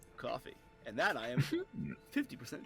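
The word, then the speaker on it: Ko-fi: it spelled coffee no it's spelled Kofi but it's pronounced coffee and that I am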